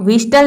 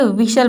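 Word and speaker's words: whistle: अब यहां पर देखिए विटल यानी की टी ए रहा है लेकिन यहां पर टी क्या है साइलेंट है यहां पर हम टी को प्रोनाउंस नहीं कर रहे हैं तभी इसका प्रेरक्षिशन हो रहा है विषय सिटी मत बजाओ विषय आप विटल नहीं बोलेंगे विशाल बोलेंगे विशाल बोलेंगे डोंट विजन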